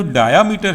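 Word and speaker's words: diameter: तो इस पोर का जो डायामीटर है या डायमीटर है जिसे आप लोग प्रोनाउंस करते हैं, यह है 0.45 माइक्रोमीटर।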